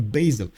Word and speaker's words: basil: with error score okay in Italian it's Basilico with a short a in uh French it's a basilic uh also short a and in English for hundreds of years it has been a basal uh short a okay